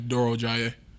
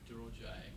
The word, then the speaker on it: Durojaiye: Either it's or you can say, and then my last name is Durojaiye. Durojaiye.